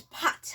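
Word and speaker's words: pattes: Now you say pause in French is pot.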